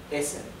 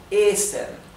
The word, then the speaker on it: essen: Otra cosa que les hago notar nuevamente es que las dobles consonantes hacen que la vocal que viene antes se pronuncie corta. ¿Qué quiere decir esto? Esto se pronuncia essen. La primera E es bien corta.